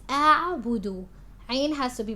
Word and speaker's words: أعبد: Now make sure your hamza on alif is pronounced. You're not mixing it with the ain. You're not saying أعبد. It's أعبد.